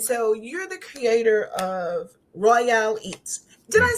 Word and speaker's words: Royale: But yeah, Royale. Um, that's that's how you pronounce it.